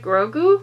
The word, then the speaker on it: Grogu: how cute i never say his name right grogu i think is how you pronounce his name everybody calls him baby yoda